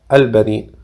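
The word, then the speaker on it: البنين: En cuanto a la palabra en árabe, al benin, que en español se pronuncia al benin, Dios se refiere a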